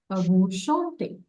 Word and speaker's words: chantez: EZ is also sounded as this. Okay. Okay. Vous chantez. Vous chantez. Okay. The E is also sounded as this ER.